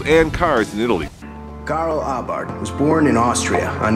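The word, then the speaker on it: Abarth: little bit about Karl Abart. By the way, the H is silent according to Fiat.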